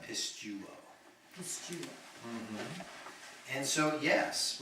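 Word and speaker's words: πιστεύω: That is the third person singular, present middle passive indicative from Pisteo. He sure it is believed. Yep. And it would be, you just want to pronounce that pistuo.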